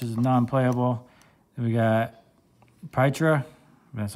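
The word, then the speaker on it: Pietra: Then we got Pytra.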